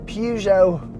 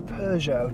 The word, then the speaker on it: Peugeot: the last few years Peugeot or Peugeot depending on how you want to pronounce it have been on an